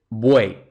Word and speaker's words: buey: eso es un triptongo otro ejemplo buey Entonces tenemos uei No importa que la y se escriba como Y eso es una cuestión totalmente ortográfica Pero en cuanto a la estructura de la palabra es uei entonces buey y las tres vocales se pronuncian en la misma sílaba formato es un triptongo